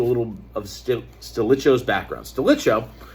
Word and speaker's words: Stilicho: Stilicho, or Stilicho, is probably the correct way to say it, Stilicho.